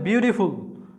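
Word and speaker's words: beautiful: বিউ ঠি ফুল, মানে ঠির উচ্চারণটা হয়েছে টির মধ্যে, আই এর উচ্চারণটা হয়েছে ই, এরকম ঠি, তাহলে বিউটিফুল।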